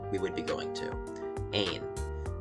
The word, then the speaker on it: Ain: would be going to, Ain. Yes, I know the S is silent, the French language is very annoying like that.